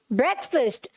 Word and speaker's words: breakfast: आई डू नॉट ईट ब्रेकफास्ट, मैं नाश्ता नहीं करती हूँ, फाइन।